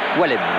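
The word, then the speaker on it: Wallemme: Pour la prononciation, c'est Varmuz, on dit bien Varmuz et on dit Wallem. On reste bien d'accord là-dessus.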